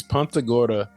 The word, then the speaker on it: Punta Gorda: It's Punta Gorda.